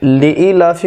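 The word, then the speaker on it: لإيلاف: আর এখানে নিয়ে এসেছি আমি হর্ষই নিয়ে আসতে পারতাম, কিন্তু এখানে নিয়ে এসেছি দীর্ঘই, এই কারণে যে উচ্চারণটা হবে লিই লিই।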